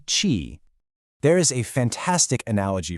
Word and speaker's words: q: For chi, our English starting point is going to be this sound chi, like the beginning of the word cheese.